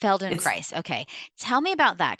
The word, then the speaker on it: Feldenkrais: Feldenkrais. It's Feldenkrais.